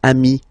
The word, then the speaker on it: amis: Okay, but then technically you pronounce it the same way. So singular form ami, plural form you add this S, but it's ami as well.